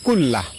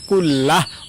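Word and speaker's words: كُلَّهُ: আল্লাহুম্মা গফিরলি যামবি কুল্লাহ। আমি আবারও বলছি, আল্লাহুম্মা গফিরলি যামবি কুল্লাহ। লাস্টে হা উচ্চারণ, কুল্লাহ অথবা কুল্লাহু এভাবে পড়বেন।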